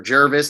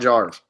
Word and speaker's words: Jervis: they call him Jervis his name is jerve or Jervis not jarv thought it was like